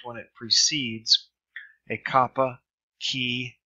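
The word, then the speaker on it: chi: pH as in phase key which looks like an X as pronounced like a the CH as in chaos so there's no difference in the Erasmus Ian pronunciation of kapa and the key C is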